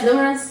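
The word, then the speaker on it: limerence: Limmerance. Limmerance. Yeah, liance. I can't believe that's how it's that it's pronounced. Limrance.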